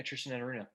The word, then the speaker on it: Tristan Enaruna: Am I pronouncing that correctly? Yeah, Tristan Enaruna.